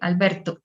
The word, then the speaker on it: Alberto: The T for Spanish is like a dry, explosive sound. So we would say Alberto.